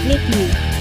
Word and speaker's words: Nike: It is correctly pronounced ‘ny-kee’ and the name comes from the Greek goddess of victory.